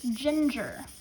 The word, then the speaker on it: ginger: We have gin. That's a closed syllable there, so it's a short sound. Ger. J-er. So this would be an R-controlled syllable. Ginger. You have an I making the G say it soft sound and an E making